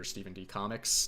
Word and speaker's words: Stephen D Comics: My name is, of course, stephendcomics, as I mentioned before, and it's pronounced as it sounds, Stephen D. Comics, not Stephen, not Stephen spelled with a V.